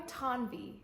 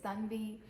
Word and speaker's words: Tanvi: My name is Tanvi and I go by Tanvi in the US, which some people might judge me for it, but I actually love the sound of Tanvi.